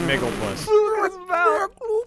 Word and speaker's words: Miglupis: I pronounce it Miglupis.